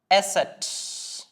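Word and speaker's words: ß: നിങ്ങൾ സിമ്പിൾ ആയിട്ട് മനസ്സിലാക്കുക നമ്മൾ പഠിച്ച എസ് എന്ന് പറയുന്ന ആൽഫബെറ്റിന്റെയും സെഡ് എന്ന് പറയുന്ന ആൽഫബെറ്റിന്റെയും ഒരു കോമ്പിനേഷൻ ആണ് നമ്മൾ എസ്സിനെ എന്താ ജർമനിൽ പഠിച്ചത് അതെ എസ് സെഡ് എന്നതിന് നമ്മൾ സെറ്റ് ഇത് രണ്ടും ഒന്ന് കൂട്ടി വായിച്ചാൽ മതി എസ് സെറ്റ് എന്നാണ് ഈ ആൽഫബെറ്റ് അറിയപ്പെടുന്നത് എസെറ്റ് ഓക്കേ എസ് സെറ്റ്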